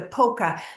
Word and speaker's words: POCA: let me tell you, it's a what is that called? An acronym, right? POCA. It stands for something. Did you realize that? Because it's not spelled like polka dot or polka dance. It stands for preview of coming attractions.